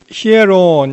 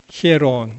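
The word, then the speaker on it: ἱερόν: 맨 처음에 여기서 나오는 이 성전은요, 히에론 이렇게 되어 있는데, 이게 이제 그리스 말인데요. 이 영어로 이제 P 같이 생긴 것이 R 발음이 나고요.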